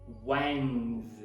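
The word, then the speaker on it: Wednesday: e sabe por quê Porque na escrita você vê a letra D mas na pronúncia não tem essa letra D logo quando a gente vai falar quarta-feira em inglês vai ser wines você começa com depois o Epson é é depois n z não tem SD na pronúncia ok Você viu a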